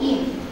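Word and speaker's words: ene: এটাকে লিখতে পারি টু ইন আমরা আগে আলোচনা করে এসছি যে ডাবল বন্ড থাকলে তার উচ্চারণ হবে ইন তাহলে আমরা টু ইন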